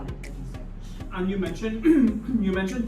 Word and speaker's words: Edgeesketch: Am I even saying it correctly? Yes. Edgy Sketch?